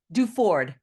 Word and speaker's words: Duford: Duford.